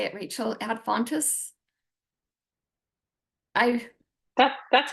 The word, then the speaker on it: ad fontes: Ad fontus? That's how I say it. Ad fontes, yeah.